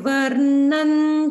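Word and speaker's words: वर्णं: with this Anuswara pronunciation, you'll notice that in Shashi Varnam, we pronounce it as Varnan Chaturbhujam. So Anuswara, which we talk about a lot in the other chanting classes, changes its pronunciation based on what comes after it.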